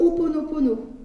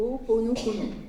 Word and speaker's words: Ho'oponopono: Vous avez aussi le Ho'oponopono, si vous connaissez.